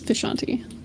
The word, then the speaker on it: Vishanti: frustration vashanti is it vashanti vashanti how do you like it uh I pronounce it the way that they do and the Doctor Strange Comics which is where I took it from is vishanti okay banti you your